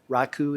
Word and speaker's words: Raku: as pearl six is raku you will often hear me say raku instead that doesn't mean you've been saying it wrong raiku is slightly more correct rakudo is the compiler